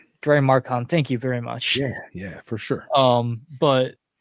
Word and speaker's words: Drymarchon: But they're like up there, I think, with the intelligence level, or almost up there with like Dimacron. I can never pronounce it right. Drymarchon.